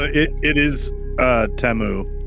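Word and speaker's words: Temu: It It is uh Teu. There was an advertisement that Teemo put on the Super Bowl and it's Teu. We're all saying it wrong.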